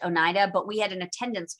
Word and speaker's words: Oneida: these are this this word oneida um is pronounced oneida but we had an attendance clerk for the last five years who spelled her name like this but because she was of german ancestry pronounced it anita so if you went to the attendance office